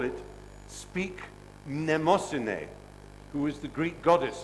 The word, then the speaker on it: Mnemosyne: In fact, he wanted to call it Speak Mnemosine, who is the Greek goddess of memory, the mother of the muses.